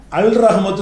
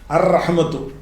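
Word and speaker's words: الرحمة: அப்துல் ரஹ்மான் தான் சரி இப்ப ரஹ்மத்து இருக்குது ரஹ்மத்துன் அதுல அல் போட்ட உடனே அல் ரஹ்மத்து சொல்லக்கூடாது அர் ரஹ்மத்து ஜுஜாஜ் இருக்கிறது அல் போடுறோம் அல்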